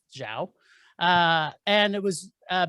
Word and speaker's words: Zhao: modern-day nomad directed by chloe zeo is that the right pronouncing oh thank you yes that makes more sense now that i know that that's zhao uh and it was